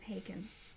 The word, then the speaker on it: Haken: only because so can bacon rhymes with haken and taken and taken and it's one